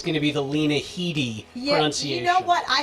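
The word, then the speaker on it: Headey: have to admit that i learned how to pronounce her name today now granted i would have said hedy right i didn't hear the lee parts so but yeah i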